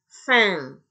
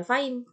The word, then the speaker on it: faim: Bukan faim, tapi fin. A, I, A tadi. Oh, kursornya genit nih lari-lari. Oke. A ketemu I tadi dibaca E ya. Kemudian M di akhir kata kan dibaca sengau. Jadi fin. Oke.